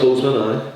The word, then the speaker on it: Boseman: I pronounced the second name wrong, but I don't think it did. No, it's Boseman, But like Joe, prime example, punching friend, and then it was like, not an apology, not nothing.